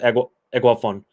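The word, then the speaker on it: Eguavoen: You should have just stayed with Eguavon. That's how you pronounce it.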